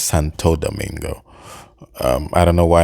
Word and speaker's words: Santo Domingo: uh Santo Domingo I I say Santa Domingo I think it's Santo Domingo um I don't know